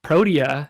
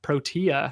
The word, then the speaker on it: Protea: sleeper on youtube said prodia is only for those who drink tea like a pro which actually we found out this week that protea is the correct pronunciation